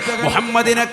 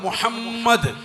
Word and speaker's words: മുഹമ്മദ്: മുഹമ്മദ് എന്ന് പറഞ്ഞാൽ തന്നെ അർത്ഥം എന്താ? സ്തുതിക്കപ്പെടേണ്ടവൻ എന്നാണ് അർത്ഥം. മുഹമ്മദ് എന്ന് പറയുമ്പോൾ തന്നെ രണ്ട് മീമാണ്. മുഹമ്മദ്, രണ്ട് ചുണ്ടുകൾ ചേരുമ്പോഴേ മീമിന്റെ ഉച്ചാരണം ആവുള്ളൂ.